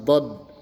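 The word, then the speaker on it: ضاد: Kemudian dikasih titik satu di atasnya dibaca d atau dod. Nah, ini sama bentuk mulutnya dibulatkan ya. Kemudian pipi kiri kanannya bergetar d do. Jadi lidahnya ee bergerak keluar d do gitu ya. Do. Jadi terdengar berbeda dengan suara huruf da.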